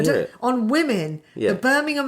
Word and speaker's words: Birmingham: But that's not how you say it. How do you say it? Every time I say I'm from Birmingham, somebody goes, Birmingham. It's Birmingham. Birmingham. It's like Alabama.